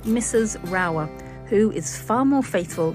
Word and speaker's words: Rauer: going to pronounce right we're saying Mrs rower Mrs rower yes she was she was